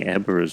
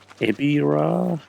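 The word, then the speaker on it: Ebirah: But I've heard that Ebra's name technically is pronounced Ebira. I think that's how it's supposed to be pronounced.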